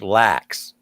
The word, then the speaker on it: LAX: completely built up everywhere the cat cat it's pronounced lacks yeah no so you see that it's like